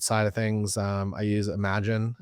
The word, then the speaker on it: Imagen: And then on the wedding and portrait side of things, I use Imagen. It's spelled Imagen AI for all my editing.